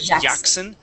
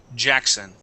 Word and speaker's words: Jackson: Give me that J sound there. It sounded like you had said Jackson, so we want to say Jackson.